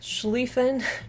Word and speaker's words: Schlieffen: uh grophily says that schlieffen pronounced schlieffen i.e designates a long e sound in german i've had a few